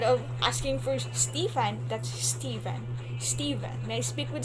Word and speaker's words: Stephen: in school right so instead of saying stefan from the names stephen s s-t-e-b-h-e-n and american people that's stephen stephen so when you're going